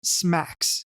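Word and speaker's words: SMACSS: and modular architecture for CSS pronounced smacks the idea here is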